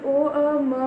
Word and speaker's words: ओम: तो ओ म इन 3 शब्दों से मिलकर ओम बना है।